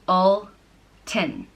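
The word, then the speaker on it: Ultan: Alton is a man from Ulster and it's pronounced all ten Bolton is spelt ult a and an Alton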